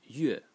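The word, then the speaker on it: 月: And by the way, these two elements separately, this element is pronounced yue, and it means moon, or it can be pronounced ro, and it means meat.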